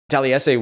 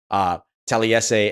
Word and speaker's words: Taliese: So just to kind of clue you in on that, 4 syllables in the first name, and then that kind